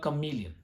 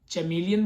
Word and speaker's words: chameleon: and it is the chameleon. बहुत से लोग इसको chameleon बोलते हैं, I guess, but the correct way to say this word is chameleon.